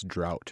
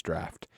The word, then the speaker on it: Draught: how it's pronounced and I still inadvertently called it Guinness drought rather than Guinness draft because on every Guinness it's d r a u g HT should we address it